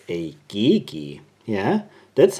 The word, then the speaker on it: GEGE: Lippe was sent to me it's a geeky yeah that's how you pronounce this brand geeky and not GG DK is a Austrian brand at least it started